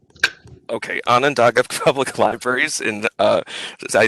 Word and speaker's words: Onondaga: executive director of the tell me if i'm pronouncing this correctly onondaga okay onondaga public libraries in uh i think central new